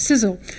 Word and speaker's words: CSEOL: We were given this acronym by our funder, but we figured out we could pronounce it as CSEOL.